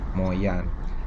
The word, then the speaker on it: 梅县: dalam bahasa hak dibacanya moyan sementara me dalam bahasa hak dibacanya MOU sejak dulu Kabupaten moyan